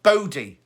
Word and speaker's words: Bodhi: oh there you go body is how you say it bodhi b-o-d-h-i and is that a